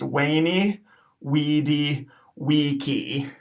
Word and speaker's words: veni vidi vici: of messed up because all of our bees are gonna have to be W sounds and the C in that third word that you'll hear pronounced is vici that C has to be a hard cuss and as we now know so this phrase will be pronounced weyni wedi vici weyni wedi vici okay